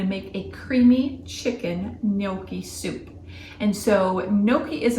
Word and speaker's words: Gnocchi: pasta in it and really the g is silent and the N is it's kind of like an ny sound if you can think about that so Noki is um like I